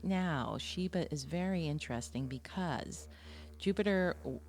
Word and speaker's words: Shiba: Shiba, Shiba, rhymes with Shiva.